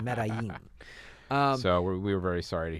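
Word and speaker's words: Medellín: If you watch Narcos, you know how to pronounce that. It's Medellin.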